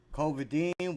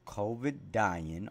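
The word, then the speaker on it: Covidien: It's called Covidine or Covidine. It's spelled COVID, like COVID-19. Covidine.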